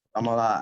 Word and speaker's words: Damola: My real name is Damola, pronounced Damola, and basically, I'm a